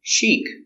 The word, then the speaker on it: chic: sales brochure very good chic it's an adjective fashionable or stylish pronunciation Chic use the soft sound this is the long e sound she ik they're going to a